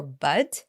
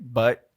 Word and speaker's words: bud: I believe many people confuse the last word, but for bud. Yeah. 'Cause it's So- often silent, right? But, bud, but, Uh-huh.